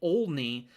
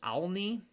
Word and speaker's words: Olney: in southern Illinois, and I was pronouncing it Olney, but I believe I was told that it's Alney.